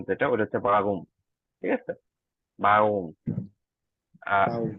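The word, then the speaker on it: warum: উচ্চারণ যেটা ওইটা হচ্ছে বাগুম ঠিক আছে বাউম আর এর উচ্চারণটা একটু গ এর মত উচ্চারণ হবে বাগুম আপনারা যদি কোন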